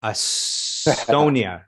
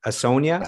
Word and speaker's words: Asonia: the band name that i mispronounced astonia a sonia sonia yeah a sonia yep uh yeah so